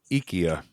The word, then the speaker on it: IKEA: to speak Swedish yeah Ikea or okay I actually actually it's actually Swedish meatballs no no it's actually ikia that's how they say it and we just